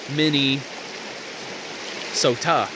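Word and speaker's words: Mnisota: But the Dakotas, the Dakota people, they called this land Mini Sota. It just wasn't spelled the same way. It was more spelled M-N-I-S-O-T-A, somewhere along those parameters.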